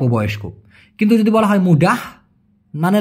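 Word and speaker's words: mudah: কিন্তু যদি বলা হয় মুডাহ মানে লাস্টে একটা হের টান থাকে সেটা মানে সহজ বাসনাং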